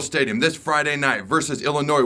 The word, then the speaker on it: Illinois: Headed into a top 25 matchup in Memorial Stadium this Friday night versus Illinois, where the S is silent for Memorial Stadium's 400th.